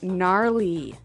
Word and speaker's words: gnarly: We heard the ski instructor say gnarly. Gnarly run. Yeah, gnarly. So an interesting word, it's spelled Gnarley. Okay, so, but you don't say gnarly. No. You say gnarly.